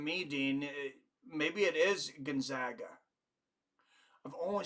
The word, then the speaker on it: Gonzaga: OD Dawns a chance you would pronounce Gonzaga with the EG as an agriculture rather than the a as an auger Gonzaga I I'm pretty sure it's Gonzaga but you've spent more time